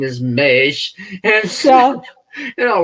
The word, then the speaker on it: Maisch: Well, and then of course when I saw color Maisch, of course I was pronouncing it wrong and thought it as mash. Mm-hmm. And I heard another interview, and it was Maisch, and so I'm thinking, okay, this has got to be made up.